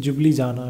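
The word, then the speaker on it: Ljubljana: यहाँ पे ना एक्चुअली एल है, तो वो एल जो है वो साइलेंट है, तो उसको क्या पढ़ते हैं? जुबली जाना, राइट।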